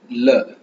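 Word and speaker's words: 了: ஸோ அடுத்தது ல ல எல்இ ல ல இந்த ல என்ன எல்இ வரும்போது ல அப்படின்னு ப்ரொனவுன்ஸ் பண்ணுவோம்.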